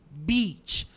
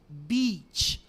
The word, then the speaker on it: beach: of attention to the pronunciation to the correct pronunciation of the word beach it has to come from from the deep of your throat like this beach beach okay beach if you don't pronounce like